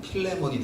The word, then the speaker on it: 빌레몬: 그리스도인의 용서와 사랑이라는 제목으로 오늘 빌레몬서 말씀을 통하여서 은혜를 나누고자 합니다. 빌레몬이라는 사람이 있었습니다. 조금 더 원어에 가까운 발음으로 한다면 필레몬이 되겠습니다.